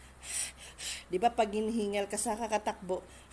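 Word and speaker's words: ب: alif Okay next letter ba ba ang letter ba ang dalawang bibig o dalawang labi nakadikit na close Tap bigin mo yung ba bubuk siya ba next ta ta ang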